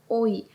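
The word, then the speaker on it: 오이: Tak zabawnie to brzmi takie oj. Ale to bardziej jest oj. I to oznacza ogórek. Długie o, krótkie i. Tak naprawdę jest jedno tylko i.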